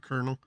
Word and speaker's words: colonel: blah blah blah and you know silent letters oh my God like colonel there's no R and kernel which doesn't make sense